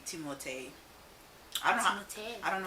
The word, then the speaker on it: Timothée: So I guess the proper way to say his name would be Timothée.